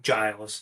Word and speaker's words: Giles: You got a little, Marcel Garcia, one of the GOATs versus, I always get his name wrong. Lachlan Giles.